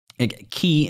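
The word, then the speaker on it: ki: Yeah, it's key, and again, that's spelled K-I, is life energy, yeah.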